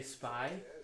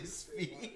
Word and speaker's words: SPY: Yeah, my DJ name will be SPY, but it's pronounced SPY, obviously. Right? Mm-hmm. But people will say SPY, like the non-followers. But it's actually Spee.